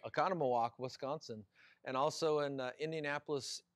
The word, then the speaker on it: Oconomowoc: wisconsin oconomowoc and also you said it right oconomowoc wisconsin and also in indianapolis indiana at the